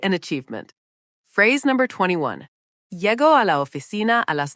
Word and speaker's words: llego: The LL in Spanish sounds like a Y, so it's llego, not Lego.